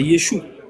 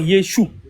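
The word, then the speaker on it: ישו: Yeshou s'écrit Yod Shin va et le va il se prononce où ? Quand il est à la fin. Donc c'est Yod, Shin, va, c'est Yeshou.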